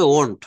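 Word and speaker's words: won't: আই ওন্ট, উচ্চারণটা হবে ওন্ট।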